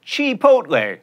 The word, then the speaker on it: Chipotle: get guacamole or guacamole at Chipotle that's right she poked legs speaking of ease